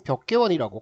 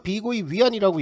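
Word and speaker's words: 碧桂园: 이번에 문제가 터진 것은 벽계원이라고 컨트리 가든이라는 업체가 되겠습니다 중국 발음으로 비고이 위안이라고 얘기를 하는데 액면가 10억 달러 회사채에이자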